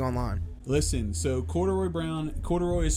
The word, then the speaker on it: Corduroy: But if you break it up in 3 syllables, it's the best word. Corduroy.